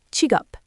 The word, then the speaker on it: 직업: The word for job or occupation is chiup, spelled j i k e o p and pronounced chigup.